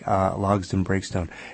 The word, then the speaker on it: Logsdon-Breakstone: And on the phone right now, we are joined by Savannah Logson Breakstone. I hope I'm pronouncing your name correctly. I've been skimming over it. It's pronounced exactly how it looks. Okay, fantastic. Logson Breakstone.